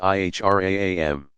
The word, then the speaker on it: ihram: As pilgrims enter a forbidden zone that encircles Mecca, called the Haram, they put on the plain white wraps called the ihram, pronounced ihram.